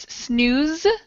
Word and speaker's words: snooze: And the pronunciation is snooze with a Z, snooze button, snooze button.